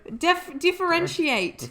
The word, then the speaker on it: differentiate: Differentiate. It's TIATE. Differentiate. You still said it wrong.